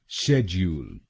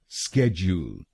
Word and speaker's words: schedule: तो बनेगा शेड्यूल, शेड्यूल, शेज, you'll, शेज, you'll, शेड्यूल, शेड्यूल। और ये ध्यान में रखिएगा कि हमको पहले शब्दांश पर यानी SCHED पर जोर डालना है।